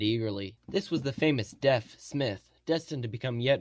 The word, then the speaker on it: Deaf: this was the famous deaf Smith destined to become yet more famous although they generally pronounced a deef in Texas guess we didn't come